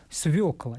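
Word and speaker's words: свёкла: и и правописание тоже как будет правильно свекла или свекла но неправильное произношение этого слова может быть объяснена некоторыми неточностями в его написании очень часто кстати людьми игнорируется буква ё хотя здесь вариант правильно единственно возможный свекла через ее а мы с вами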